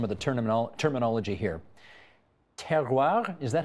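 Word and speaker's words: terroir: me with some of the tournament terminology here ter is that how you say it ter ter okay m which means what ter refers to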